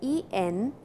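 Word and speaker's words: えんぴつ: Enpitsu, and you can see the spelling is E-N-P-I-T-S-U, but when you pronounce it, it is E-M, enpitsu. So, before P, the sound N changes to M.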